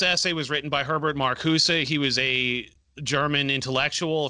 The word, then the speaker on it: Marcuse: tolerance by harvard marcus i might be saying that name wrong but i'll kick it herbert marcusa that's right cool marcusa it's it's a little bit i guess it's not a hard z sound but it's a little more like that because in